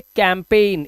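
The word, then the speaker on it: campaign: तो कैंपेन में भी जी एन है लास्ट में। तो एन से पहले आ रहा है जी। जी जी साइलेंट रहेगा।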